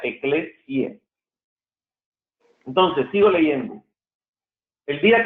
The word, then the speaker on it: Ecclesiae: Al final hay una A y una E que en latín se pronuncia E. No es Ecclesiae, se escribe Ecclesiae, pero se pronuncia Ecclesiae.